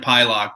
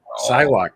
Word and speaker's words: Psylocke: It's I pronounce it Pylock, but I'm not the best at pronouncing things. I think it's Psylocke.